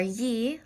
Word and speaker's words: gli: Eyes in Italian are ye, like yeehaw without the haw, ye, spelled G-L-I though.